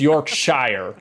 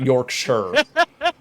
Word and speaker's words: Yorkshire: It's York Shshire, not Yorkshire. The The English, they like to just uh drop out the I and the E for whatever reason.